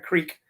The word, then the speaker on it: creek: And also crick. You say crick, not creek.